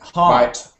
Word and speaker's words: heart: Heart. Don't say hurt. Heart.